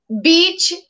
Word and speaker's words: beach: Beach. Beach. Not bitch. Oh, really? It's like two E's together.